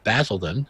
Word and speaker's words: Basildon: undertaken by leonardo edits Basildon is that correct pronoun that i pronounced that correctly mattered yes we like that yes